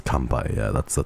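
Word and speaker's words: 乾杯: I think it's kanpai. Yeah, that's the kanpai.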